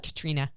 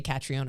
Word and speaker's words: Catriona: An Australian word that I learned from one of our members-only students, Katrina. I always want to say Catriona because that's what we thought her name was forever. Right, that's how it's spelled, yes.